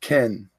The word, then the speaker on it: Kine: Everyone keeps calling me Robin, but it's Kine. Oh, Kine. Okay. Pronounced Ken.